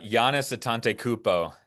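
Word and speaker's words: Giannis Antetokounmpo: Stephen, how do you pronounce the name of the best player on the Bucks? Uh, Giannis Atante Koopo.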